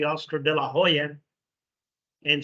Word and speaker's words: Hoya: In Spanish they say Oscar de la Hoya, Hoya, not Hoya, right? But in English, Oscar de la Hoya. He was born in the United States, so that's the way he pronounces it too.